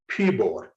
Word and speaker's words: keyboard: For example, keyboard, and you highlight key in the word keyboard to show the place of stress.